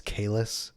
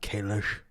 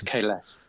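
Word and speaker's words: Kahless: can we just state right now it's Kalis, not Kalish. Yeah, it's Kalas. Yeah, it's not pronounced the way that they pronounce it in Discovery.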